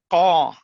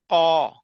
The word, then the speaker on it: qaw: Q in Hmong, but it's qaw, ka, ka, qaw. So it's like you're saying it from the back of your throat, qaw.